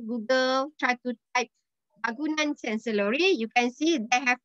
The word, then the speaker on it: Canselori: Okay, so the first one, Bangunan Canselori. Okay, did you remember how to pronounce the the letter C? Sure. Okay, not K.